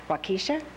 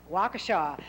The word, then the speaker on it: Waukesha: and assistant vice president, and I'm hoping I pronounced this right, Waukesha? Close. Is that close? Waukesha Memorial Hospital in Waukesha, Wisconsin.